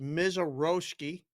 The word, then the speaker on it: Mazeroski: It's pronounced Mizaroski.